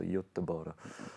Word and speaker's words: Göteborg: Actually, I got a pronunciation lesson as well from Fanny Sunesson, so Göteborg.